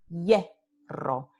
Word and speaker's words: hierro: Y sabemos que ye ocurre al principio de la sílaba. Entonces decimos hierro. Y esta aquí no es la semiconsonante I, va a ser la semiconsonante ya.